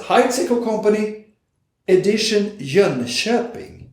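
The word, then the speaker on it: Jönköping: hide sequel company edition jean shepping that's the way you should pronounce john chopin which i heard before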